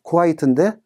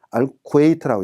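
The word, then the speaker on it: الكويت: 자, 국가 이름에 쿠와이트인데 알쿠웨이트라고 읽습니다.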